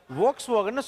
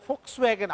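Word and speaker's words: Volkswagen: அது வோக்ஸ்வேகன் சொல்லக்கூடாது, ஃபோக்ஸ்வேகன் அப்படிலாம் எவனோ ஒருத்தர் சொல்லி கேட்டுக்கிறோம்ல.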